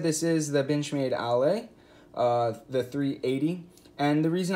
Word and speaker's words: Aller: So what we'll be talking about today is the Benchmade Ale. I say Ale even though it's spelled Aller in our kind of in English language.